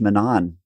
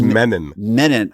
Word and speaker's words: Menon: you could correct me it's men men oh it's like like men and like men in like the like the deodorants yeah speed stick that's